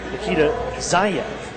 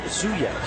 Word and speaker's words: Nikita Zayev: Been told that the pronunciation Nikita Zayev, not Zuyev.